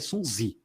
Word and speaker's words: Sun Tzu: Se eu salvo engano, a pronúncia em chinês é Sun Zi, né? Mas eu vou chamar de Sun Tzu, que é mais fácil.